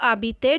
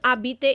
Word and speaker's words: habiter: Now here you are going to learn the verb, le verbe habiter, to live. Now it is same like er we have done, but one thing you have to know is as h is silent, so it will be